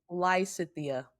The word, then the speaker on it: Lysithea: So the pronunciation of the band's name. Yes it is Lysia. Lysia.